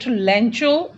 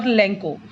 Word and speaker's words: Lencho: You can pronounce it Lencho or Lenko, but I prefer to speak Lanko in place of Lencho.